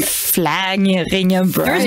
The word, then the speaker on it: Vlaardingerbroek: I've never heard my name butchered like that before. Right. I mean, Vlaardingerbroek.